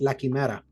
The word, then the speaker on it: La Quimera: And we have La Quimera coming to PC on April 25th. How'd I do with that Spanish pronunciation? I was going to say you nailed it. That's how it's called, La Quimera.